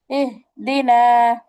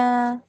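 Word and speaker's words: اهدنا: আর এটা হচ্ছে হায়া হাওয়াজ, ছোট হা, হলকে শুরু হইতে কেমন? এহ দিনা, এহ দিনা। এটা স্বাভাবিক বললে উচ্চারণ হয়ে যাবে, হ্যাঁ? আর এই হাটা বলার সময় কণ্ঠকে একটু চাপাইতে হবে, বাট এই হাটা স্বাভাবিক বলবা।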